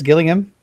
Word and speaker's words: Gillingham: yeah yeah cam cam got it again it's killing him all right yeah that's some good news all